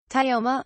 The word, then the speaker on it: Tioma: Tioma, culture, example of falling pitch. This is the most common pitch pattern in the language, especially for two-syllable words. Tio, one syllable in which you should treat Tai as a consonant cluster, is at a medium-high pitch and MA falls past neutral to a medium-low pitch.